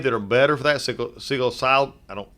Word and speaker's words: psilocybin: Psilocybin, I don't pronounce that well. Psilocybin.